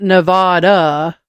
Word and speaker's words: Nevada: The proper pronunciation is not Nevada, but Nevada. Nevada? Yeah, according to Nevadans. And the distinction is important.